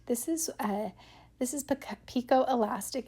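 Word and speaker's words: picot: This is a This is pico elastic. It's spelled like piccott, but it's pico elastic.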